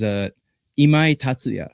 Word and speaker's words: Imai Tatsuya: Yeah, the proper pronunciation of his name is Imai Tatsuya.